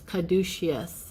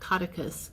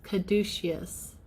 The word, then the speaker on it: caduceus: the coil the serpent so I pronounced that incorrectly it's caduceus is how you say it not cauticus caduceus and look at that